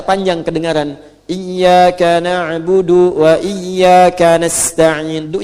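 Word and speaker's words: نستعين: Jika berhenti, sukunlah: iyaka na'budu wa iyyaka nasta'in. Sukun huruf 'n'.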